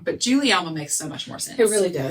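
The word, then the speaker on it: Guglielma: l m a and if I hadn't already heard it said I would definitely have pronounced that like gililma or something right yeah um but instead this time I 100 know you Google that how to pronounce it Juliana that G is like a j that's what I mean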